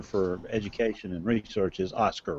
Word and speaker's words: OSCER: Education and Research is OSCAR, right? That's correct, yeah. And we know that a lot of people, when they see OSCER, are going to pronounce it OSHER, and we've just learned to live with that.